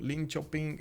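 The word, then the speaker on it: Linköping: Also, it was M. Voltaire saying Lin Chopping seems to be pronounced Lin Chopping. Okay, Lin Chopping. So Lin Chopping and not chopping.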